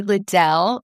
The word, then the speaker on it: Liddell: I'm here with another friend from across the pond, Ashley Liddell, and we were joking together because we both have similar pronunciations of our last name, very fancy at the end in that second syllable.